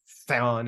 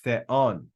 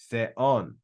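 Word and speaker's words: θεόν: So we don't have theon in one crazy, one syllable. We have theon, theon. All right? Two syllables.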